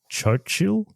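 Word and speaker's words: Xóchitl: how to pronounce this I think it's Cho chill uh it's it's spelled x-o-c-h-i-t-l so uh sorry if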